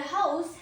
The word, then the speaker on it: house: Example is their house has a large garden. Their house has a large garden. This known as house where people live. Pronunciation two is house. House ends in zed means house.